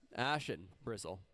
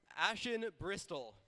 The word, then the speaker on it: Ashen Bristol: Ashen Bristle. There we go. All right. Dude, am I getting that wrong, too? Bristol. Oh, Ashen Bristol.